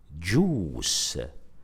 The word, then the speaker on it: juice: The same apply to the word juice, juice. So juice is spelled J-U-I-C-E, J-U-I-C-E.